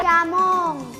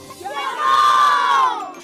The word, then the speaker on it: xamón: Vedes, se sabedes dicir todas estas palabras en inglés a diario, tamén saberedes pronunciar ben o xe do galego.